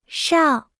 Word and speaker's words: 少: 少少少少少少少 Se pronuncia con el tercer tono.